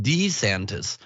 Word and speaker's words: DeSantis: announcing his candidacy apparently pronounces his own name Ron D santis Kermit defrog style so we have to